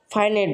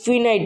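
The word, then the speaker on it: finite: একটা হলো ফাইনাইট verb এটা ভালো উচ্চারণ হলো ফাইনাইট ভার্ব কিন্তু আমরা সবসময় উচ্চারণ করে থাকি ফিনাইট ভার্ব ফিনাইট ভার্ব নামে কোন কিছু নাই আরেকটা আছে হলো নন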